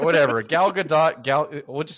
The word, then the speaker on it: Gadot: the thomas told me i'm not allowed to say godot because it's not she's not french so it's it's pronounced gadot that's how i've heard